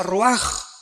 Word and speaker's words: ruach: Aquí se usa otra palabra hebrea, que se escribe ruach, con R de Raúl, A-C-H, se pronuncia ruach.